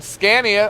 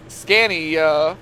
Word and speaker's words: Scania: I I could get you a uh a Scania or Scanyia, I think is how it's pronounced them semis.